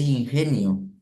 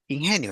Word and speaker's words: ingenio: Yeah, I remember there is I don't know how do you say ingenio. Ingenio is Ingenio.